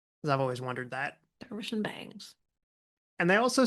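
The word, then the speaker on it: Dervish and Banges: told to pronounce it Dervish and Bangs, that the E was basically silent. Hmm. Because I've always wondered that. Dervish and Bangs.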